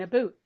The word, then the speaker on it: about: But as I said before, about and a boot both are correct.